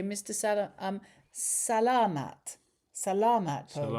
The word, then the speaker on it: salamat: Sala um Salamat. Salamat po. Salamat po. We keep on saying Salamat. Salamat. Salamat. Salamat. So, the the emphasis on the a.